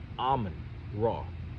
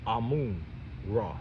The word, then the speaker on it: Amun Ra: That's Amun Ra, or Amun Ra, whichever way you want to pronounce it.